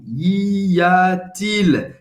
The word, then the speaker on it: Y a-t-il: Você vai pronunciar assim. Y a-t-il?